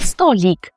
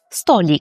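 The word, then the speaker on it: stolik: Ще перед тим, як ми загалом сядемо, попросимо меню і по попросимо рахунок, нам потрібно вибрати столик, який польською звучить як столік. Столік. Столік.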